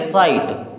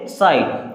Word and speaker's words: sight: SIGHT, GH आया बीच में, ये भी साइलेंट हो गया। अब इसे क्या पढ़ेंगे? साइट। क्या पढ़ेंगे? साइट।